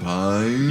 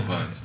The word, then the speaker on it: Piines: yeah, it's, Yeah, supposed, we're gonna it's, say Say Pines.